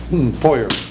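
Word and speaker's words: Feuer: Foyer. Louis J., I think. Louis J. Foyer. Does he spell it correctly?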